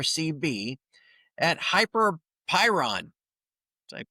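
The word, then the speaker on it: Hyperpyron: So, M A R CB at Hyper Pyron. Did I pronounce that right?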